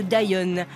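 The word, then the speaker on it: Dyon: mais dans le milieu la marque est plus connue sous le nom de Dion avec un Y et une prononciation à l'anglaise c'est fait dans des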